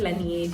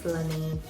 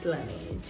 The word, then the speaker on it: Laneige: I used to call it Laneige, and then I saw that जिसमें इन्हीं के employees दूसरे employees को गलत pronunciation जाके बोलते हैं, and then they're like, dude, it's Laneige. Okay, it's Laneige.